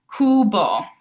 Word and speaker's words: cubo: when you see this, because in English we're used to seeing that U and wanting to make it into that queen sound almost. But in Italian, a U will only ever be an oo sound.